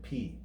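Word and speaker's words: Π: We commonly pronounce this as pi in English, but the correct Greek pronunciation would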